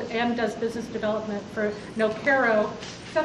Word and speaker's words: Nokero: Evan Hunsey is the general counsel and does business development for Nokero. Is that how you say it? Nokero?